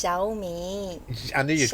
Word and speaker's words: Xiaomi: It's Xiaomi.